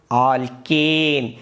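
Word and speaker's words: alkane: The saturated hydrocarbons ಆಲ್ಕೇನ್, ANE. ದಯವಿಟ್ಟು ಎಲ್ಲರೂ ಸಹ ಉತ್ತಮ ರೀತಿಯಲ್ಲಿ ಉಚ್ಚಾರಣೆಯನ್ನು ನೀವು ಕಲಿಬೇಕಾಗತ್ತೆ, ಯಾಕಂದರೆ ಇದ್ರ ಬಗ್ಗೆ ನಿಮಗೆ ಸರಳ ಲೆಕ್ಕಗಳಿದ್ದಾವೆ, ಸುಲಭವಾಗಿ ಅಂಕಗಳು ಸಹ ನಿಮ್ಮ ಕಿಸೆಗೆ ಬರ್ತವೆ.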